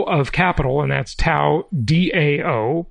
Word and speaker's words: Dao: capital and that's Tao Dao but pronounced Tao I believe and then it's the